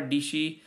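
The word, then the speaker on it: Dietschy: This is from Sarah Dishi, and she says rhymes with PC.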